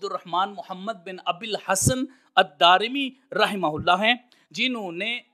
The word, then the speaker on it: الدارمی: ہے دارمی کی طرف۔ تو اصل لفظ اور تلفظ جو ہے وہ ہے الدارمی، دال کے اوپر زبر، پھر الف، پھر را کے نیچے زیر اور میم کے نیچے زیر، الدارمی۔ اللہ رب العزت کی